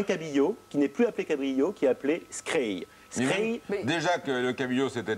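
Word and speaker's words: skrei: Scray.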